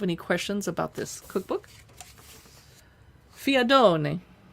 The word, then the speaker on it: fiadone: I said that with an Italian accent, but I don't know anything about this. It is, a recipe from a part of Italy called Molise. Okay, so I did say it right.